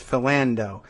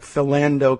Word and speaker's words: Philando: in a creditable way everybody says philando like philando calisan I don't know whether that's really right because uh that does it's a I guess it's a weird pronunciation because philando like is like philanderer which you would think